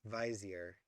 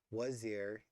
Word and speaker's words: wazir: Galland writes vizier, a wretched Frenchification of the mincing Turkish mispronunciation Torrens. Wazir, Anglo-Indian, and then wazir.